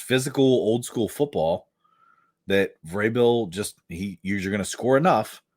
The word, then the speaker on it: Vrabel: Can I ask you to not pronounce their coach's name like Vrabel? I don't. I call him Vrabel. Because you called him Vrabel like 3 times. It's Vrabel. Okay. It's like bagel.